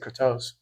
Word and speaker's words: Kratos: Bro, I'm Greek. That's how you say it. Kattos.